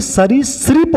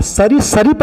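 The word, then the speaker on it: सरीसृप: जाएग मिलेगा ही नहीं लेकिन ये नहीं होता बल्कि सरी श्रप होता है सरी सरीफ नहीं होता है सरी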